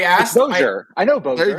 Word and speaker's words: Bossier: fact that it's pronounced Bozier.